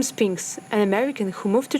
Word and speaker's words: Sphinx: can said it right my name is Spinx Spinx yeah oh wow Spinx I I I pronounce it like vegetable I'm not I'm not